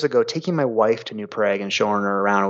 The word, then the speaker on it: New Prague: But for some reason, over the years, we came to pronounce it New Prague.